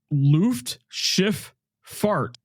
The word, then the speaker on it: Luftschifffahrt: The Luft part sounds like Luft with a short U sound, as in book. The Schiff, similar to Schiff. And the farts is pronounced with a long A sound like farts.